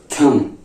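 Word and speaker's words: thumb: हैं ठीक है ओ बम क्योंकि यहां पर थंब थंब को भी हम लोग तुम भी थंब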